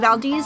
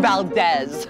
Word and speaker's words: Valdez: no no no no i'm sure you mean valdez no sir it's valdez it's a strategic mispronunciation